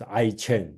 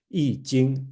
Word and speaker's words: Yijing: And with some people pronounce as I-Ching, right? It should pronounce as Yi, right? So the modern way to do it is this way, Yijing.